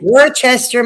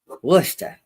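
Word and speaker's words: Worcester: but man that their Winter's no way oh Worchester Massachusetts is in the house yo yo it's pronounced wer W get after whoever's from wer get after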